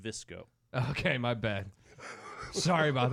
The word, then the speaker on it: VSCO: the same as the vsco is actually pronounced visco okay my bad sorry